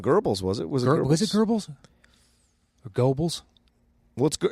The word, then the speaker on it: Goebbels: was it was herbals Goebbels what's good it's pronounced Gorbals but yeah yeah I